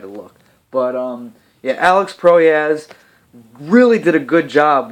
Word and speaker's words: Proyas: I wasn't always sure how to pronounce his last name. That's why I had to look. But yeah, Alex Proyas really did a good job with the cinematography and the directing of this movie.